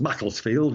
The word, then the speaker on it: Macclesfield: it's in the north of England so it's pronounced Macclesfield with a very short flat field a high